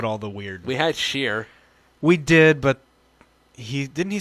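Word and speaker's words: Scher: We had Sheer. We did, but didn't he spell it kind of different? S-C-H-E-R. That's like share.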